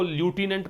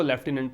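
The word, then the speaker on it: lieutenant: लेफ्टिनेंट governor, अब लेफ्टिनेंट की spelling याद रखना, ये अमेरिकन इंग्लिश में इसी को ल्यूटिनेंट पढ़ा जाता है, ठीक है, अमेरिकन इंग्लिश में यही वर्ड का प्रोनाउंसिएशन ल्यूटिनेंट होता है, ब्रिटिश इंग्लिश में इसी को लेफ्टिनेंट पढ़ते हैं।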